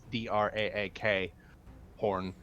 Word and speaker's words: Drakhorn: The Drakhorn, however you're supposed to pronounce it, it's Draak horn, was supposed to be used only to sound pretty much the gathering of Tiamat's forces.